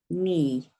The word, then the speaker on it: knee: E.g., silent K is always next to the letter N in words like no. Can't hear it at all, can you? No, knee, knight, that's in a knight